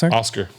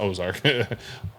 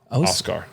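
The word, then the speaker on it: Oskar: Ozark Blues yeah okay no no not Ozark yeah Oscar like o-s-k-a-r oh yes I'm probably pronouncing that wrong per the usual but yeah it's definitely not Ozark oh scar yeah yeah flat flip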